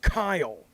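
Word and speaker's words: Caio: anything um oh it's your name is pronounced Kyle but you spell it c-a-i-o what's the matter with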